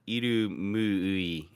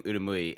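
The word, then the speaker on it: Irumyuui: I got in trouble for Made in Abyss as a character called Irumui, and I kept saying Urumui, and I got flame for it here recently.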